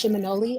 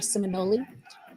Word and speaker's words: Seminole: a Creek word or Muskogee word, and it's pronounced Seminole or Seminole.